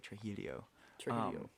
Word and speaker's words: Trujillo: there were more fireworks i was in trujillo or as they say tragedio that's how they spell